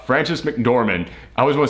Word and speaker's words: McDormand: ahead and says I always screw up the pronunciation of her last name Frances McDormand I was gonna say Francis McDowell Frances McDormand she played Mildred the main character